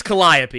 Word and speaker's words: Calliope: upon a time people did you say kaliope or caliope or whatever it's Calliope you can look that